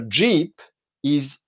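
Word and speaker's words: jeeppi: So the Finnish word for a jeep is jeepi, not jeep, like in Serbian, where it's also based on pronunciation. In Finnish, it's jeepi because that's how you spell jeep.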